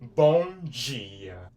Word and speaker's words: bom dia: Bong G. Bong G. And I already taught you how to spell it.